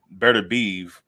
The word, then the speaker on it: Beterbiev: Kovalev, fucking Beterbiev or Beterbiev. That's how you say it.